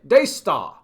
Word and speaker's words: Daystar: dayar we don't see we don't pronounce the r in the end we just say dayar it's all day Stars